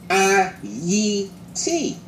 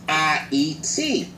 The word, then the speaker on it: Ayiti: the proper pronunciation is I eat see that's the way the current natives pronounce the name and that's the way